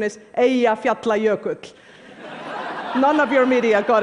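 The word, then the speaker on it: Eyjafjallajökull: friends including President Obama by the way the pronunciation is a efe apply a coat none of your media got it right but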